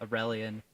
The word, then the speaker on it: Aurelian: As he runs past Aurelian, is that how I pronounce it? Yeah, Aurelian.